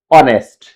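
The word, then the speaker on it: honest: कई बार इसको होनेस्ट बोल देते हैं क्योंकि एच से शुरू होता है ना तो यह गलती कर देते हैं हम लोग तो इससे बचना है क्योंकि एच है हमारा वो साइलेंट हो जाएगा और हमारा प्रोनंसिएशन शुरू होगा ओ से तो इसलिए क्या होगा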